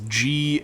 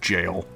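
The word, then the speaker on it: gaol: be jailers the uh the archaic spelling of jail is g a o l when I first saw that word I I thought it was G but apparently it is just pronounced jail surrounded by J turnkeys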